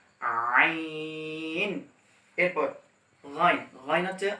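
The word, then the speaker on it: غين: এরপর গাইন, গাইন হচ্ছে হ এর মাখরাজ থেকে, অর্থাৎ হ এখান থেকে যে আদায় হইল এখান থেকে গাইন উচ্চারণ করবেন, অর্থাৎ গাইন, গাইন।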